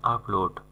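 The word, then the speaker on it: applaud: আপলোড মানে হচ্ছে করতালি দেওয়া বা হাততালি দেওয়া, ভিডিও আপলোড না, কিন্তু এর উচ্চারণ হবে আপলোড, করতালি দেওয়া বা হাততালি দেওয়া।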